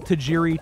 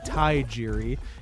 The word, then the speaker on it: Tajiri: he was pronouncing them british he would just pronounce them wrong he would he would call tajiri thai jiri and he would call umaga umanga he would